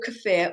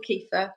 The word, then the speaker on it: kefir: talking and then so here's my cafir so or cafir or kefa depends where you live how you say it um this is my